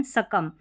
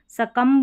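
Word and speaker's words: succumb: यह इसका उच्चारण सकम। सकंब नहीं बी का उच्चारण नहीं करना है।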